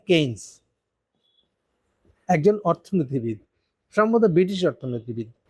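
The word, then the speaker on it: Keynes: আমি বানানটা দেখে আসি নাই দেখে বলব কেইনস উচ্চারণটা কেইনস একজন অর্থনীতিবিদ সম্ভবত ব্রিটিশ অর্থনীতিবিদ কেন্সের একটা তত্ত্ব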